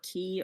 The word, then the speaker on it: Quay: Um, okay, I don't know if I'm pronouncing it Quay or Key or what, but did they establish on Critical Role that either pronunciation was acceptable? Well, I think actually it's pronounced key, but Matt Okay.